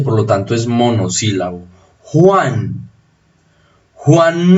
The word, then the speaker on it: Juan: Juan no lleva tilde porque es monosílabo, el acento está acá. Juan, el acento está en la abierta.